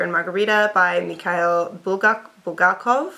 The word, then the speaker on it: Bulgakov: Margarita by mik bul bulgakov I've had Russians C my pronunciation so I'm just doing what they say to Doyle buk this